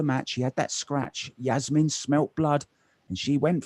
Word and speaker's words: Jasmin: Yeah, I was reading up on Jasmin earlier, and her name is actually, according to Wikipedia, pronounced Jasmin. So ruins my jumping genius, Jasmin, slightly. But yes, apparently it is Jasmin.